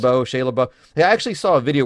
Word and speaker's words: Shia LaBeouf: Shia LaBeouf is how that's pronounced. Shia LaBeouf.